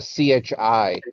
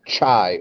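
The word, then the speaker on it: χ: of a ch a c-h-i maybe more in particular so the name the name of x in greek is uh chi or chai or chi okay and when you're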